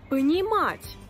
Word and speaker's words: понимать: Понимать. Понимать, comprendre. Понимать, la même chose. La voyelle O qui était atone est devenue A. Parce que l'accent tonique a frappé une autre lettre.